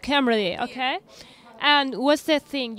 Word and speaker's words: Cymru: Oh, it's pronounced Cymru, okay.